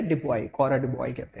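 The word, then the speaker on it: Du Bois: डिबॉय, yes silent है डिबॉय, कॉरा डिबॉय कहते हैं, ठीक है डिबॉय।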